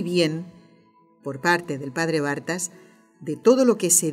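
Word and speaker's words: Barthas: Bartas se escribe B-A-R-T-H-A-S, Bartas.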